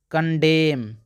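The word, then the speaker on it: condemn: बताइए पंक्ति और यहां देखिए इसको पढ़ते हैं कंडेम कंडेम इसको पढ़ते हैं ऑटम ऑटम अब दोस्तों आगे देखेंगे साइलेंट पी का नियम यहां दोस्तों आगे साइलेंट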